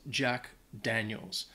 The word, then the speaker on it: Jack Daniels: you want to get some whiskey it is pronounced Jack Daniels I know I've heard some people depending on